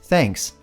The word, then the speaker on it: thanks: Coloca a ponta da língua entre os dentes e sopra.